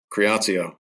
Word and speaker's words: Creatio: Institute and da and creatio I think I'm saying that correctly uh Tim rer welcome well thanks thanks for having me Jeremy great to be here and did I say it correctly you did you nailed it yes creio all right well I